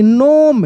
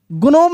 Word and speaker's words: gnome: GNOME, नोम, क्या पढ़ देते हैं? नोम। ग्नोम नहीं, जी साइलेंट है, ग्नोम नहीं, नोम।